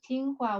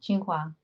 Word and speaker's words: Tsinghua: Yeah, Qinghua. Yes, Tsinghua. that's the correct pronunciation.